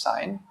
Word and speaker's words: sign: ¿Por qué la G, por ejemplo, en la palabra sign no se pronuncia en inglés, sign, ¿no es cierto?